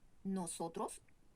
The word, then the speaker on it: nosotros: On prononce bien la O. Nosotros, nous.